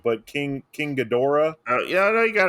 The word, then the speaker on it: Ghidorah: This was basically Godzilla, and I think I'm going to get the name wrong, but King Ghidorah.